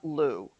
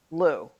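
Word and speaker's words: Lugh: and this is from the god lou l-u-g-h lou remember it's gaelic and half the letters aren't pronounced anyway um now some people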